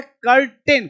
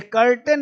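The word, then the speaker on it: curtain: अब देखो यहां पे कर्टेन। कुछ लोग बोलते हैं कर्टेन। यहां पे ध्यान देना। इसको लोग पढ़ते हैं क्या भाई? इसको पढ़ते हैं कर्टेन। ये कर्टेन नहीं पढ़ना है।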